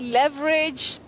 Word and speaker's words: leverage: go about that one that word has two acceptable pronunciations uh we talk of alternative pronunciations you can say Lage leage or you can say lever Le or Le leverage or leverage but Betty we don't